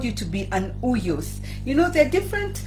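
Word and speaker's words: υἱός: But God has called us to be uyos, which is spelled as U-I-O-S. U-I-O-S. It's a Greek word.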